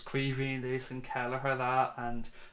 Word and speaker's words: Caoimhín: Just in case anybody ever wondered about how you pronounce his first name, it is Caoimhín Kelleher. Caoimhín is the Irish for Kevin, so his name's actually Kevin Kelleher, but it's Caoimhín is how it's pronounced.